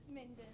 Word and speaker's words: Minden: Minden. Minden, see? I'm going to have to start asking for pronunciations of town names.